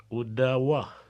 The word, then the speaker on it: Odawa: C'est comme Ottawa. La vraie prononciation, c'est Odawa.